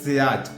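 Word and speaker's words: sillage: बड़े में देखिए सियाज बहुत से लोग सियाज भी बोलते हैं बेसिकली जो है उसमें वो साइलेंट राहत है तो उसको सियाज बोला जाता है लिखा जाता है शिलाज बोला जाता है सियाज सियाज का जो रोल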